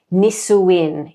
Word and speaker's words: Nisuin: Nisuin is how someone with without a lazy palate would would pronounce that.